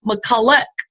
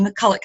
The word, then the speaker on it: McCulloch: 2 points, Rebecca Thompson 6 points, and Tammy McCulloch is how you pronounce her name. She taught me how to on a call this week. Tammy McCulloch.